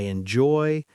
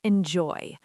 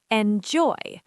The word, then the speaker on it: enjoy: Okay, let's look at the word enjoy. The stress is on the second part. Enjoy.